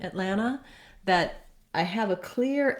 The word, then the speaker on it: Atlanta: full ah atlanta atlanta i really want to be very very short and hear a big difference between this ah here and this long stressed a in this syllable so i wrote it this way to have you think about it being more like an et or an it and again using your stop t at it atlanta atlanta so that's very